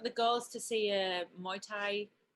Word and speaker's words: Muay Thai: girls to see a Muay Thai am I saying it right my time yeah Muay Thai yeah the loved it